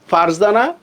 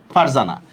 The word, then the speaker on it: ফারজানা: আর এর সাথে কোনো ভাওয়ালের উচ্চারণ নাই। সেক্ষেত্রে আমরা কি করব, যখন উচ্চারণটা লিখব তখন এই রর মধ্যে আমরা একটা হসন্ত দিব, রর মধ্যে একটা হসন্ত দিব।